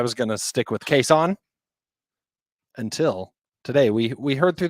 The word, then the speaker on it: Cason: But the man looked at us and said, it's pronounced Cason. Now, technically, he told you all that his mother calls him Cason.